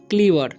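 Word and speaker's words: clever: क्लीवर, ठीक है, सी का उच्चारण स्लीवर नहीं पढ़ना है, इसे क पढ़ना है, सी का उच्चारण क हो रहा है, तो क्लीवर, क्लीवर।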